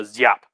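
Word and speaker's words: Giáp: uh with uh a zyap g has a little bit of z in it and so if you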